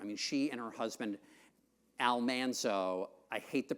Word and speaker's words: Almanzo: years were I mean she and her husband Almanzo I hate the pronunciation but that's really how you're supposed to pronounce it on the TV show was almano which is much more pleasing to the ear